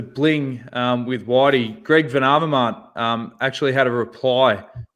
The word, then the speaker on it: Van Avermaet: Uh I heard you had some trouble with pronouncing my name. It's Greg Van Avermaet. Van Avermaet. Van Avermaet. Hello? Okay, just a second. It's for you. Van Avermaet.